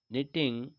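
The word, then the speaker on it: knitting: question थ हु इज निटिंग य sweater तो यह निटिंग लिखा हुआ है के साइलेंट रहता है इसमें तो ट निटिंग यानी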